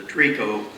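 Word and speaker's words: tricot: division president of the TRICO. By the way, TRICO is spelled T-R-I-C-O-T, and that just means lingerie.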